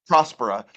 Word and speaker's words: Prospera: to how did Pro is it Prosper prospera prospera word Prosper I have been saying it right